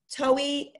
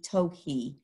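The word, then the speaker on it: towhee: top is an eastern tohi so we say toei it's sort of what it's the sound it makes and it's spelled t-o-w-h-e-e toki but they are very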